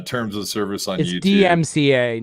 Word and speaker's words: DMCA: DMCA, not DM DCMA. DMCA, digital marketing copyright.